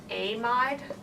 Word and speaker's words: amide: And so when we see these conditions, remember that this was called sodium amide. We do a long A to distinguish it from amide.